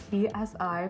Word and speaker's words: psi: Psi, Greek letter, spelled p s i, pronounced psi as in physics, let's label it with quantum states.